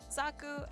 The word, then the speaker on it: Zaku: Zaku is pronounced like Zok, like sock, and oo as in ooh, a piece of candy.